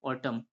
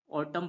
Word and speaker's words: autumn: उसी प्रकार next word है AUTUMN, तो यहाँ पर एम के बाद एन आ रहा है तो यहाँ पर भी एन साइलेंट हो जाएगा। तो इसे पढ़ेंगे हम AUTUMN को पढ़ेंगे हम ऑटम। क्या पढ़ेंगे? ऑटम पढ़ेंगे।